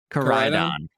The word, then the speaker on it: Koraidon: How do you pronounce it again, Dan? Koraidon.